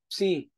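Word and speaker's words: ψ: so cares Okay then we have the PS like Pepsi Pepsi PS Okay so ang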